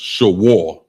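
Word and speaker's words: שור: The next one is oxen or beef, and it's pronounced shawar, and it's spelled S-H-A-W-A-R.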